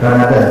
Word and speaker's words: Ramadhan: Ramadan sama Ramadan itu beda. Ramadan memang tulisannya R-A-M-A-D-A-N, Ramadan, Pak. Dalam penulisan jurnalistik, jadi tulisnya kayak gitu. Tapi bacanya tetap Ramadan.